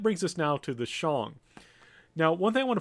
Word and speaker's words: Shang: Now, one thing I want to point out, sometimes when Americans see this word, Shang, they want to pronounce it Shang. But usually in Chinese and actually both Japanese, as a kind of tip, the A's are long.